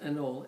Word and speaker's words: anole: Or they're pronounced anole, A-N-O-L-E.